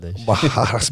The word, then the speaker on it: Barradas: By the way, why do you guys have two R's, but then you fucking pronounce it with like it's a H? H. Barradas, but it's two R's.